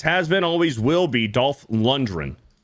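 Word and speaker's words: Lundgren: Normie and Jason within three months says, "You pronounce the G in Dolph London. I've heard it from the man himself." That's I am Dolph Lundren.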